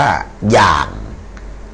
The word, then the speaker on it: อย่าง: ทำ อย่า กิน อ่า ยอ ยักษ์ สระ อา งู ไม่ เอก เท่า กับ ย่าง falling โทน นะ ฮะ มี ออ อ่าง นะ ครับ ออ อ่าง ยักษ์ สระ อา งู ไม่ เอก อ่าน ว่า อย่าง นะ อ่า อ่า ต่อ